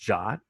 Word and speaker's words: JWT: briefly it's a json web token it's actually pronounced jot which was news to me when i kind